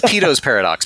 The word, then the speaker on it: Peto's paradox: It's Peto's paradox. P-E-T-O apostrophe S. Peto's paradox.